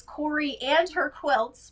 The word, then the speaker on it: Coriander Quilts: And I always like to mention it's Corey and her quilts, but it's spelled like coriander, like the spice.